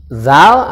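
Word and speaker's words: ذال: yang ini Zal Zal Zal itu ada suara berdesis dari ujung lidah bertemu dengan ujung gigi dan anda suara berdesis jadi Zal Zal nah baik setelah itu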